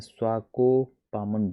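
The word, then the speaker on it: Swakopmund: इसका प्रोनाउंसिएशन थोड़ा कठिन है, स्वाकोपामुंड, स्वाकोपामुंड।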